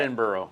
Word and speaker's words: Edinburgh: We're right there, and it was Edinburgh. I cannot pronounce that. Edinburgh.